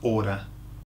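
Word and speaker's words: hora: too loudly okay so hour or time is is order order Okay order so it's very similar isn't it our and Order When You See It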